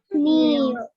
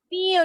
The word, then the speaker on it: kneel: Kneel. Kneel, good. I-nya panjang, well done.